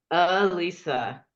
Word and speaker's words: Elisa: It's pronounced Lisa, like you're trying to think of someone's name, like Ben. It's UH Lisa. Elisa.